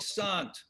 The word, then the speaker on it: Sante: Is there an accent over your E? no, it's silent. It's not a French name. I'm so sorry. Is it just Flemish? It's Walloon. Walloon, pardon me. Luc Sante.